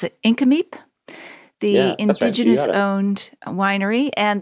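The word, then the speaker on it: Nk'Mip: well that's the resort that's right there but iname is there you pronounced it absolutely properly too really yeah a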